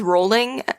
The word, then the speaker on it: Rowling: pronounce her last name it is rolling like like you roll down a hill I am rolling so